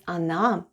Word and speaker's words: она: The first letter is O and it's unstressed and is pronounced as A. Then goes N and A. And altogether it's она.